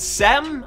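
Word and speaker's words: Seum: Next up, we have a game called Sem, I believe is how you say it, S-E-U-M, and then you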